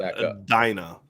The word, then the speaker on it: Adena: And I think that's pronounced Adina, is what I think I remember people jumping on me when he was being recruited.